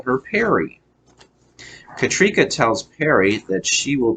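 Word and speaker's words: Katryca: it uh it looks like it should be pronounced could catch Rika but it's pronounced katrika okay so I thought that was interesting katrika even though it's with a y katrika okay she says she is the leader of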